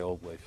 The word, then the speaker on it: Old VVave: Platíquenme, ¿quién me da esta explicación del nombre Old Wave? Pues viene porque, no por Ringo Starr, y bueno, se escribe con dos V's por motivos legales, por así decirlo, si nos llamemos con W.